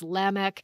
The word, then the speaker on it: Lamech: seventh one from kane his name is lamech or you might pronounce that lamech i've heard it a couple different ways i think biblically with the semitic languages it's lamech but if you want